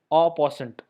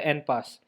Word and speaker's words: en passant: Another move is called en passant, or it is pronounced as au passant, or in short we say en pass.